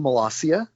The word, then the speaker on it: Molassia: It's actually Melasia.